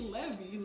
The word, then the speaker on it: Levi's: Que Levi's? Levi. Levi's. Ah, tem os no final.